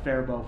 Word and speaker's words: Faribault: now i apologize to the good people of faribault for screwing that up so before we get